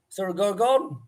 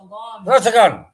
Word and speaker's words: Sorsogon: Surah Gorgon? Sorsogon. It's like me when I was in New Zealand, trying to fucking pronounce those New Zealand names, you know, like Whangamatar.